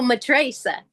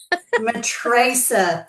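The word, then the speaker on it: Matraca: Oh, Matricesa. Matricesa.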